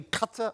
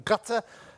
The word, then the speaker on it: Qatar: Next, we go from catalysis to Qatar, or possibly more correctly, Qatar, or even gutter. They're all ways I've heard Qatar pronounced. And apparently the problem is there's a key Arabic letter that doesn't have a direct correspondent in Britain.